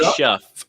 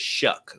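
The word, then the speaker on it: Shough: shut it looks like shf it looks like shff but it's shuck like shucking corn like shucking corn I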